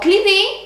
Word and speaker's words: κλειδί: Το κλειδί, which means the key, and το ταξίδι, which means the journey. Το κλειδί has the accent at the last syllable, and το ταξίδι has